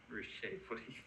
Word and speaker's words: Ruscha: So, no, that's Ruscha. That's Ruscha. That's how you pronounce it.